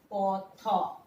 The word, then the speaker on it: পথ: কিন্তু যখন কথা বলছি তখন কিভাবে বলছি দেখো, পথ, পথ দেখাও, পথ দেখাও বলছি না কিন্তু।